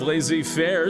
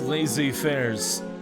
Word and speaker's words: laissez-faire: In the era of laissez-faire, someone still cares about the little guy stirring stuff from Tammy. Hey. Oh. Yes, laissez-fairs.